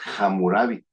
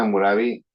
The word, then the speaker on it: Hammurabi: etiquetaron en otros países, pronuncian la H, entonces es hamurabi.